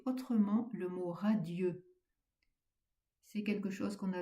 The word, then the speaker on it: radieux: Au lieu de dire radieux, on va prononcer radi, ce qui ajoutera un pied au vert.